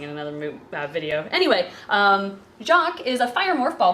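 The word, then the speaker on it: Jacques: this jaes Jac Jac oh there's an S at the end of Jac okay j a c qu s Jac now we're now everybody's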